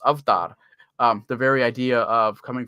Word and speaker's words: avatar: The word avatar comes from South Asia, and it's pronounced avtar.